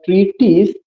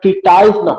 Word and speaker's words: treatise: द ट्रीटिस इज a dialogue, कह रहे ये जो ट्रीटिस है, this is नॉट ट्रीटाइज, नॉट ट्रीटाइज, you don't have to pronounce ट्रीटाइज, this is द ट्रीटिस।